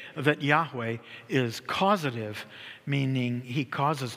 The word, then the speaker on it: Yahweh: Jehovah is actually a combination of the consonants of Yahweh, YHWH. YHWH, okay? Because in Bible writing, they did not use vowels.